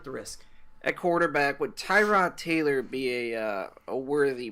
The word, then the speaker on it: Tyrod: yeah we had this argument it's definitely not to rod the English language decides that it's Tyrod I told you my name is I